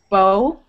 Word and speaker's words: bough: Ow, bow. Like if somebody punches you in the arm and you're like, ow. That's the sound.